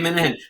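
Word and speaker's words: Minehan: Is that how he pronounces his name? Yeah, Dave Minahan, a local rock star.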